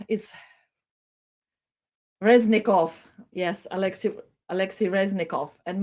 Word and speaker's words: Reznikov: station was expressed by ministry of defense alexei razitski harassing sorry my pronunciation is reznikov yes alexis alexi reznikov and maybe let's uh